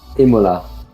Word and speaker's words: Imola: just get this over that's the correct Italian way to pronounce it Imola Imola Imola all right gt4s it's